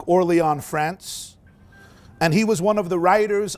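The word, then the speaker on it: Orléans: from a city called Orlon France. It's written like Orleans but it shouldn't be trans it shouldn't be pronounced as New Orleans. I think it's more like Orlon France.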